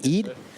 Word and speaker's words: Eid: All right, hey, I'm here with Jaden Eid, pronounced correct, Eid.